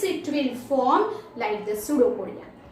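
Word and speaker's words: pseudopodia: वो food material के पास finger like projection, ये जो है इट is called सूडोपोडिया. Here the spelling is PSEUDO पोडिया. सूडोपोडिया में P साइलेंट है, इट इज सूडोपोडिया.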